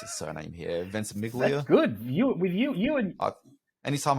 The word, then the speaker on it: Ventimiglia: It stars Milo, and I've never quite known how to pronounce his surname here, Ventimiglia.